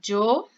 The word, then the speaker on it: yo: Você pode falar yo, do jeito que eu estou falando, né? Como se fosse um DJ.